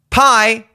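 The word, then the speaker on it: π: looks like our letter p is called Ro or Ro as the Greeks say and that makes the r sound but the pi in the Greek alphabet is actually pronounced P so I don't know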